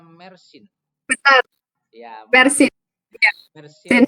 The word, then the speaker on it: Mersin: Betul, bacanya Mersin.